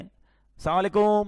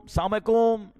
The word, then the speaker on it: السلام علیکم: ہاں سلام کی تلفظ ہی ٹھیک نہیں ہے. السلام علیکم, السلام علیکم, یہ سلام نہیں ہے, بلکہ بعض اوقات تو اس کے میننگ ہی آؤٹ ہو جاتے ہیں. سلام کیا ہے؟ السلام علیکم ورحمۃ اللہ وبرکاتہ.